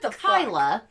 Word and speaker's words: Kayla: So I got the synopsis this week, and it is: when Dawn and Kyla, but spelled Kayla, but pronounced Kyla, reunite for a mother-daughter